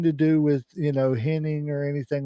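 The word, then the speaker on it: Hennig: It's henning to me. I don't care what they say in the South. It was pronounced h inning, right?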